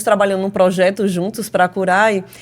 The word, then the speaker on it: Curae: é Cuidado em latim a pronúncia em Latim é até curer não é curai e a gente abrasileirou para curai né em breve a